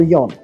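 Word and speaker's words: 四: Well, okay, so in Japanese, 4 can be pronounced either shi or yon. And shi is synonymous with death, so they prefer to say yon.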